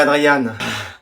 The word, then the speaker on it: Adrien: Tu préfères que je dise Adrien ou Adriane? Comme vous voulez. Adrien, ça va? Je préférerais Adriane.